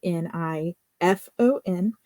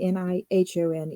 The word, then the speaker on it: Nifon: And I want to note here that that is spelled Nifon. People who follow my channel, you know that Japanese is one of my primary 2 languages. So it is not actually Nihon, even though there's some Japanese references in this section.